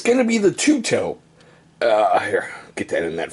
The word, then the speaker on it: Tueto: And it's going to be the Tueto. Here, get that in that frame. So yeah, that is pronounced Tueto, like T-O-O-T-O-E.